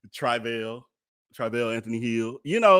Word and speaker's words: Travell: i'm sorry and and i'm pronouncing his name wrong because point is where i started uh phonetically spelling it so i quit saying it wrong his name is trivial trivial anthony hill so he said it out his own mouth that is trivial not travail travail um he was